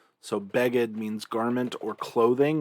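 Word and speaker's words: בגד: helpful then we have beggad remember this little arrow here indicates that the accent is on the second to last syllable rather than the final syllable so bagged means garment or clothing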